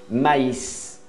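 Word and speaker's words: maïs: Quando tem trema numa vogal, você tem que pronunciar do jeito que ela é para nós aqui em português. Maíz, maíz é milho verde.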